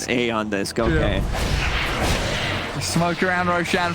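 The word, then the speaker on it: Aeon Disk: removed from the game eon disc pronounced a on this go okay smoke around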